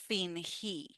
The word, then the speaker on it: fingí: I put a stress, and even you can see we call this in Spanish tilde. Is un acento, is an accent, is a stress that we put on that syllable. Fingí.